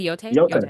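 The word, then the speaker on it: Yōtei: Is it Yote?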